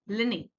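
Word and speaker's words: Pliny: ठीक है, लास्ट जिनकी हम बात करेंगे दैट इज कॉल्ड दी लिनी। अगेन पी जो है वो साइलेंट होगा, दैट इज लिनी।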